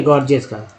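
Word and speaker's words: gorgeous: जैसे गॉर्जियस का एक वर्ड लीजिए, ठीक है, गॉर्जियस का एक वर्ड ले लिया मैंने, जैसे पहला जी ग और दूसरा जी जो है ज के रूप में उच्चारण होता है।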